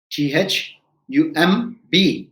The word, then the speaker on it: thumb: i say it is not thumb it is thumb t h u m b becomes thumb b after an m at the end of the word is silent so this is what